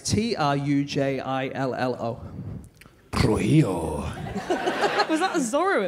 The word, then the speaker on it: Trujillo: So this is a thing that happened in Venezuela, in a town that I don't know how to pronounce. It's Trujillo.